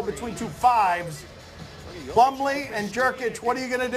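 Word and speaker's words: Jokić: Plumlee and Jokic, what are you going to do? Yeah. That's nice. That is nice. You know, it's almost as nice as the way you pronounce Nikola Jokic's name.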